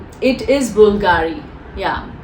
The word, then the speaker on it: Bvlgari: It is Bulgari. Yeah, it's Bvlgari, but I think here B is really not said loud, so it's B is silent.